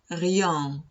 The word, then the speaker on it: rien: Cuando tengamos una EN al final de la palabra, la pronunciamos en ese caso no como on, sino como el 1 en francés. O sea, la pronunciamos un. Ejemplo, rien, rien.